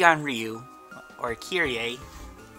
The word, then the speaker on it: Kairi: I put Kairi on Ryu, or Kyrie. I've been pronouncing it Kyrie because the other pronunciation just reminds me of someone who even the Brooklyn Nets don't seem to want, I'm assuming.